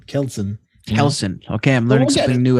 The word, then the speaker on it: Kjelsen: The J is silent, you know? So like it actually says it right here. Wituslavski is Polish and Kjelsen is Danish. So it's probably Kelsen.